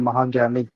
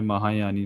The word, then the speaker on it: महाज्ञानी: नाम आपने सर मेरा थोड़ा गलत प्रोनाउंसिएशन किया है, महाज्ञानी। अच्छा महाज्ञानी, मैंने महायानी पढ़ लिया यार।